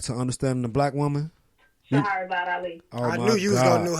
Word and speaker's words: Shahrazad: It's hard to pronounce her first name. Say her name again. Shahrazad Ali.